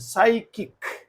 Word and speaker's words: psychic: p is silent psychiatrist next psychic again the same p s so p word Start begin P silent so p is silent psychic psychology psychiatrist and